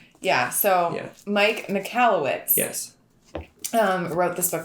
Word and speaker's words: Michalowicz: It is. Michalowicz. Mike Michalowicz. That's actually much easier than it looks.